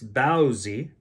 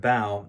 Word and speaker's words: bao: And in Mandarin, I guess it's baozi instead of bao, and pronounce the word differently, but the Americanized pronunciation is usually bao. And in Canada, that's what we usually say too, is bao.